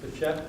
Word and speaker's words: Behçet: And talk a little bit about, let me help you pronounce this, Behçet?